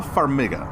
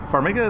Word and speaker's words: Farmiga: hard to pronounce. Connie. Okay. So they cast Taissa Farmiga. Farmiga is Farmiga.